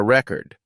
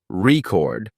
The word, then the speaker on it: record: in I bought a record but when the stress is on the second syllable record it becomes a verb like in I will record the video another commonly used example